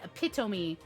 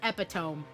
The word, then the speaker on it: epitome: ah yes it is it is epitome not epitome but spelling wise it looks like epitome looks like that would